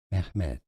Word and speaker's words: Mehmet: In Turkish, it is said as Mehmet, meaning praiseworthy.